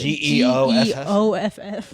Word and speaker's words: Geoff: G-E-O-F-F. G-E-O-F-F. yeah. Geoff. Well, Geoff. the comic book guy, the comic book guy is spelled G.F.